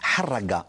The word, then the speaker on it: Harraga: Il faut le prononcer en arabe avec la griffe de son H qui racle la poitrine, de son caverneux, de ses A qui ouvre la bouche en porte-voix pour un vacarme assourdissant.